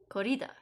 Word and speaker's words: corrida: a spanish word then the emphasis is always on the second to last syllable huh chai do you know spanish korida do you know do